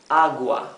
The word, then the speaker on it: agua: Here, the U is not mute, right? We do pronounce the U. Agua. That is because after the U we do not have the letter, neither letter E nor letter I. Okay? So it's not a muted U. This is agua. It's a U like here.